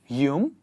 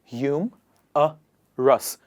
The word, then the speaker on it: humorous: Pronunciation of humorous would be, very quickly, hum-a-rus. Humorous. So please do not pronounce it like humorous or something like that. It is humorous. Hum-a-rus.